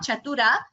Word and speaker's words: चतुर: So Mahodaya, here it is Chatura, not Chatura. Chatura. That is 2 is a hrasva, short letter.